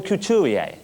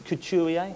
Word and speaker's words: Couturier: Dear America Mr couturier oh I'm still having problems with your name it's Couture I took me years to learn how to pronounce it myself yeah that's good enough